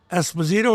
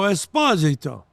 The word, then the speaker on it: Esposito: Like Esposito or Esposito. That's what, like Italian people, when I went to Italy, they say, "Oh, Esposito." Oh, yeah. I said, no, Esposito. The second syllable.